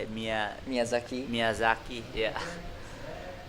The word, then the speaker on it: Miyazaki: I've been around to Tahara, Shonan, and Miyazaki. I don't know how you say it. Miyazaki.